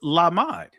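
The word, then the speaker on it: למד: So the ancient Hebrew pronunciation for the word disciple is lamad, right?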